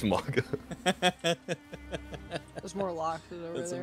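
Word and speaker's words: Mauga: yeah or it's well it's supposed be pronounced malga but it's MAA there's more lock over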